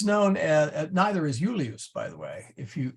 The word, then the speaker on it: Julius: heard the word Julius so the the I as a consonant sort of is a y sound okay who use um